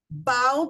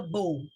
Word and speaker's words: bow: Heteronyms are typically words that have the same spelling, but when pronounced differently, the meaning and the definition changes. For example, bow before the man wearing the bow.